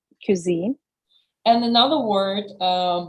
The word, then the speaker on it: cuisine: Serene has pointed out was mispronounced can you pronounce it right cuisine cuisine and another word uh buffet or Buffet depending